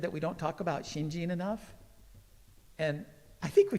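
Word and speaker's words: 信心: um and uh the last one is uh pronounced gene it's hard to say shinshin so it's shinjin um that second character is actually one of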